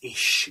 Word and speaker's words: ich: Not ick, it's ish, you know, you've got to, I know a bit, you know.